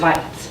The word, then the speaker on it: Weitz: German pronunciation is Weitz, but I married into it. Okay. My name is Weitz, and I'm a mother of a 12-year-old boy here in one of the elementary schools.